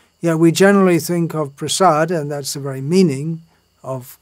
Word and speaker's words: prasada: those who attend Mangalarti, sing chaturvidha Sri Bhagavat prasado, but it should be actually chaturvidha Sri Bhagavat Prasada. Look in the songbook and see how it should be pronounced.